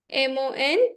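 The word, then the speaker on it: Montaigne: works by mon these are works by mon m o n t a i g n e mon Now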